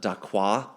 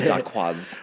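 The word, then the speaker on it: dacquoise: Also, for the record, it is not daqua. It's a daquaz.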